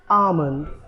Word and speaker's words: almond: So the correct pronunciation of this fruit is, or dry fruit is, rather I should say, it is almond. अब यहाँ पे देखिए AH-MUND लिखा है. ये प्रोनाउंसिएशन को समझाने के लिए दिया गया है.